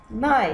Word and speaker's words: night: خد بالك الـ I لو جاء بعدها GH الـ GH مش إيه؟ مش بتتنطق. Night.